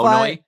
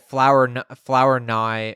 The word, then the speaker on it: Flournoy: Like the R is silent. Like it's at like SoFi, Flournoy. At SoFi, they were saying it flower nye or something in the press box.